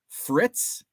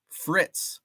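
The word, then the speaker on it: frites: Bonilla Cooter says it's Fritz you don't pronounce the e Fritz steak frits I don't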